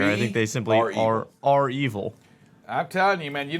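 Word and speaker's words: REvil: name of this game so it's spelled capital r capital e v i l so i'm thinking are evil i don't think they're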